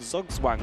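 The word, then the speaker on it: Zugzwang: It's called Zugwang where you're in a really tricky we're in a really tricky position.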